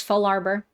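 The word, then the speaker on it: Fallarbor: I've always said Larbor, but I realize it's the words fall and arbor. So I don't know if I should change how I pronounce it. Like, should I be saying Full Arbor?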